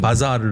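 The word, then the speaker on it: بازار: 현재 테헤란 방언 으로 는 " 보조르 " 라고 부르지만 , 원래 는 " 바자르 " 입니다 . 예전 발음 으로 는 " 바자르 " 였습니다 .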